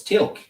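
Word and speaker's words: Teal'c: it's Tilk.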